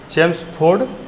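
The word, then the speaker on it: Chelmsford: चेम्सफोर्ड क्या नाम है? चेम्सफोर्ड, इसके स्पेलिंग में एल आता है, LMS, CHELMS, चेम्स स्पेलिंग, ठीक है, चेम्सफोर्ड।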